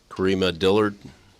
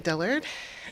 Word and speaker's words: Dillard: uh introduce yourself please correct me if i mispronounce your name and um we'll hear anything you'd like to share pronounced it perfectly all right wonderful good